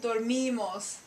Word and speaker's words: dormimos: This I in Spanish is obviously the E sound, like dinero, money, right? Dormimos.